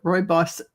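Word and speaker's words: rooibos: Roy Boss. Royos. Yeah. And and Yeah. Yeah. I had to learn how to pronounce it. Roy Boss doesn't look like you would think.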